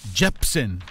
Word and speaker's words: Jepsen: week on Capitol report hold on folks it's pronounced Jepsen time flies the Attorney General says no thanks